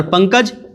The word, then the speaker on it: पंकज: और पंकज, प आधा अंग क ज, तो पंकज, ये हो गया है।